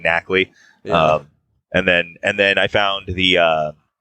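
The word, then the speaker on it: Garganacl: Yeah, is that supposed to be pronounced like Knackley or something? Like I know that it's like NaCl. It's a pun on sodium chloride, but yeah, that's what I've been saying, Knackley.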